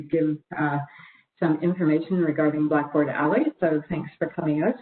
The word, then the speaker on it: Ally: So what is Blackboard Ally?